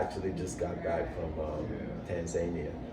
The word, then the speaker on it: Tanzania: I actually just got back from Tanzania. I thought it was pronounced Tanzania, but it's actually pronounced Tanzania. Yeah. So I've been saying it wrong for a while.